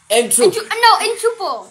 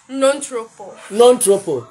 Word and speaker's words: ntropo: It's N T R O. P-O. Jenna, how do you pronounce this word? Entropo. Entropo. Okay. Malaika. Non-tropo.